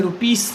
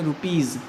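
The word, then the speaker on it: rupees: Example के रूप में देखेंगे रुपीज़, सा नहीं बोलेंगे, रुपीस नहीं बोलेंगे, बल्कि क्या बोलेंगे, रुपीज़।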